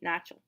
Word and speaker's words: начал: So we've got the masculine form, начал. It's kind of pronounced, the second A is kind of pronounced like an E, начал.